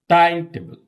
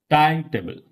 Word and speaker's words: timetable: Timetable. Timetable.